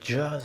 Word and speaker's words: jazz: On dit par exemple jazz avec un J qui se prononce DJ.